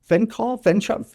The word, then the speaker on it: fenchol: I mean, is it fenchol? Fenchol, F-E-N-C-H-O-L, benefits, antibacterial, antioxidant, pain relief.